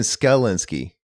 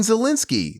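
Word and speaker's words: Szalinski: So the S is silent.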